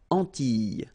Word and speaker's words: Antilles: So here it's quite interesting because, well, you've got this E and then double L, S. Okay? So final S and E, really you don't pronounce them. So you get this E sound. Antilles.